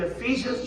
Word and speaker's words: Ephesians: the bible but the primary place is in ephesians chapter six of feasions is pronounced ephesian well what does ephesians mean well